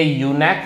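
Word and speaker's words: eunuch: लेकिन अगर मैं यूनेक शब्द का प्रयोग करता हूं या मोनार्क शब्द का प्रयोग करता हूं तो ये सी एच के का साउंड लेता है, यानी ये यूनेक है और ये मोनार्क है, तो इनको बहुवचन करने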